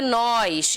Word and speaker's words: nós: No pronome reto é nós, esse O é aberto. No pronome oblíquo é nos, fechadinho o som, tá vendo?